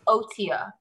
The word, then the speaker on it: Otyug: Octorok because I have no idea how to pronounce this. Yeah, that's fine. Yeah. Because it's Otia, apparently.